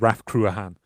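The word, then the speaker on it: Ráth Cruachan: Uh but every other source I can find everywhere says Raf Kruahan. So or just just Kruean because Raph I think means fort or whatever.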